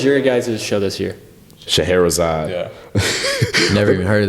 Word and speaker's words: Scheherazade: And we gave him the paper, and we were like, "Oh, just so you know, it's pronounced Scheherazade."